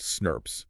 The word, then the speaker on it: snRNP: SNRNPs pronounced snurps.